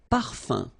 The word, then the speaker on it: parfum: So remember, even if you've got this UM like that, phonetically it's exactly the same thing as if you would have UN. So it's nasal and it's un. So it really goes in your nose. You don't pronounce the M at all.